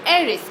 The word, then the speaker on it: heiress: is known as aerys i'm an heiress now look here aries is starting with the consonant but it gives the sound of volvo aries so i put and